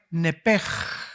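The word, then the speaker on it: נפש: En otras palabras, esa palabra vida es la palabra hebrea nepej. Se escribe nepesh, que es la palabra que se le da para el alma.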